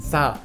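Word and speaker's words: 四: death this is because the number four written in Chinese is pronounced sa and also the character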